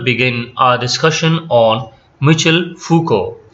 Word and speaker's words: Foucault: our discussion on mutual fuku the spellings and the pronunciation is quite different so remember michel foucault and he is related